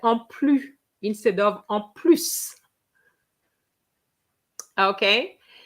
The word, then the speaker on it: plus: En plus. So, because that's what it means, you have to pronounce the S. Okay. You remember that I had put in the first text, plus. Je ne vais plus.